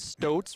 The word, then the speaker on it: Stokes: now celebrating 75 years that is Stokes rhymes with boats equipment thank you for